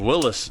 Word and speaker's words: Willys: some of my old Willis Jeeps which is I believe the proper way to say it but I've said Willies for forever too cuz all the old men that I ever talked to they always just called them Willys but I believe it was called Willis Overland.